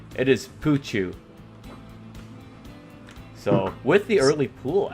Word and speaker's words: Pouchou: We're still trying to figure out how to pronounce his name. It is Pouchou.